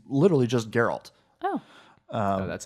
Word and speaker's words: Geralt: It's literally just Geralt.